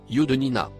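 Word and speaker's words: يُدْنِينَ: Il se prononce, Yudnina.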